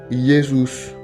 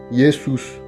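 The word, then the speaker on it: Jesus: diphtongue avec voyelle suivantes Jésus par exemple se prononce yesus yesus le M et le N s'articule fortement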